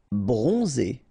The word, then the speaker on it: bronzé: Bronzé, so O-N, on, and then Z, it's really pronounced like Z. Bronzé, bronzé.